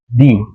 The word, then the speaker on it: the: ওকে, তো টি এইচ ই এর পরে যে ওয়ার্ডটা থাকবে, ওয়ার্ডটি যদি প্রথম লেটারটা যদি হয় ভাওয়াল, হ্যাঁ, তাহলে টি এইচ ই এর উচ্চারণ হয়ে যাবে দি।